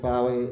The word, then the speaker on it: Bowie: David Bowie, to give you a correct British pronunciation. David Bowie.